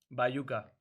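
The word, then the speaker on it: Baiuca: nice how do you say his name again by yuca okay check check him out check him out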